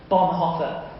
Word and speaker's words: Bonhoeffer: I love this quote from Dietrich Bonhoeffer.